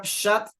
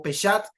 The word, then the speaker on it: Pshat: El Pardes es un acrónimo de P, que significa Pshat, así se pronuncia en hebreo, o Peshat, que está en España, ya son más de la una, nos ha acompañado todo el día.